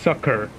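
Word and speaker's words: succor: could Grant him sakur what is sakur it's pronounced sucker literally and that means sympathy or help okay before long she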